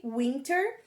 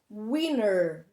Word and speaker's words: winter: Pode falar ela como se escreve, winter, mas o mais comum é eles pronunciarem com o som de winner, né? É bastante comum eles falarem winner ao invés de winter, mas as duas pronúncias estão corretas, certo?